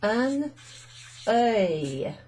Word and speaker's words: un œil: Okay, so les yeux is eyes, but in the singular it's un œil. Yeah, œil. Un œil, un œil. And here you've got the N being pronounced in front of the weird OE symbol, which is actually joined